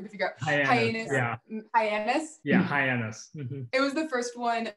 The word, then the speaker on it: Hyannis: noticed with your brand i'm drinking actually the hyenas am i pronouncing that right by the way that was the hardest one for me to figure out hyenas yeah hyannis it was the first one that i saw